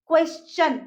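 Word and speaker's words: question: ठीक है क्या आएगा देखिए अगर इसके बाद टी आई ओ एन या फिर यू आर आता है तो टी का साउंड कहां चेंज हो जाएगा टी का साउंड हो जाएगा च जैसे क्वेश्चन उसको हम क्वेश्चन नहीं बोलते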